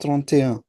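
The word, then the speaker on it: trente: टोरंटो नहीं, टोरंटो। आपको हर Mhm. जगह पे टोरंटो क्यों सुनाई देता है? इट्स ट्रोंते। ठीक है।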